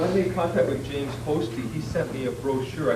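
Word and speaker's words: Hosty: But yeah, it's by the way, it is pronounced Posty. I used to call it Posse.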